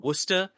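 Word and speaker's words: Worcester: that's in it's the nearby city of wora here in Massachusetts I've been informed I have to pronounce it that way uh I don't want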